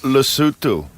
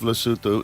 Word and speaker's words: Lesotho: The country of Lesotho is surrounded by which other country?